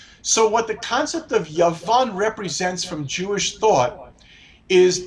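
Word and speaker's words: יון: end of a word and it would be pronounced yavan Y and yavan means Greece now what this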